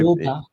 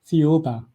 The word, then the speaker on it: Thiaoouba: Now, there's a prophecy that you want to talk about, and I cannot figure out how to pronounce it. So, I Thiaoouba. I'm sorry? Thiaoouba.